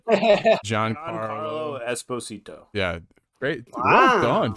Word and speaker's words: Giancarlo Esposito: Giancarlo Giancarlo Esposito.